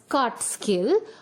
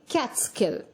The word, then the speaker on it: Catskill: the bracket okay so it's not supposed to be pronounced as cut skill it should be pronounced as cat skill okay so let us